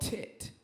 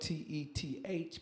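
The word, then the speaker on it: Teth: Number 9, we've got what they call this is called tet. It's spelled T-E-T-H, but it's tet, and this means T-E-T-H.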